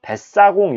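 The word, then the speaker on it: 뱃사공: 그래서 우리 는 이 단어 를 긴장 된 소리 로 발음 하고 , 아래 에 "siot" 을 붙여서 "baet-sa-gong" 이 됩니다 .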